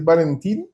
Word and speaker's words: Valentine: Hola a todos, qué gusto estar aquí con Valentín. Estamos tratando de decir bien su nombre, que a veces los nombres franceses no se pronuncian como se escriben, entonces tan simple como decir Valentín, puede decir Valentina, como acabamos de decir en español.